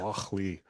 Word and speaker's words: Lochlea: So Lochlea, another one, different pronunciation. That's probably correct. Yeah. I've been wrong before. Ask my wife. Yeah. But the Scots give a really good hard H on this. Yeah. Lochlea.